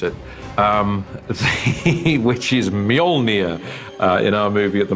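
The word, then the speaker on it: Mjölnir: a hammer is the work out how to pronounce it um which is molnia in our movie at the moment until somebody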